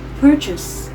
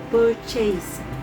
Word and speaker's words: purchase: Note the final sounds should be soft and not stressed into a or furthermore when learning English especially when transitioning verbs to nouns.